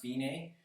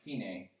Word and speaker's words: fine: It's pronounced fine. For Italian, it means to go to the finish. So if you look at that word that says fine, though it's pronounced fine, go all the way to the bottom, and